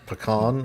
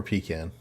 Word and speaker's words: pecan: Um pecan or pecan? You know, it kind of depends. Pecan pie, but butter pecan ice cream.